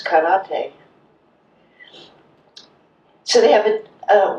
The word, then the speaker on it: karate: And every syllable is pronounced the same emphasis. So it's not saki that we drink, it's sake. It's not karate, it's karate.